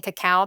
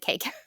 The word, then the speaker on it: cacao: Instead of saying cacao powder I said k powder and um people like dragged me for it.